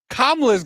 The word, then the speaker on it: Kamala: go back home, and then she goes, Kamala's got 3 syllables.